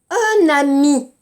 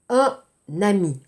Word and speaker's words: un ami: Attention, ici, 발음 밑에, répétez. Regardez. Un ami. Répétez. S'il vous plaît. 따라하세요. Un ami. Un ami. 연어마세요. Un ami 안 돼.